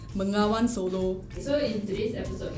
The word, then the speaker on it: Bengawan Solo: And you must say it like that. Bengawan Solo.